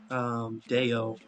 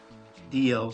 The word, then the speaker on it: Dio: Is it Dio or Deo? Dio. So I had it right at least.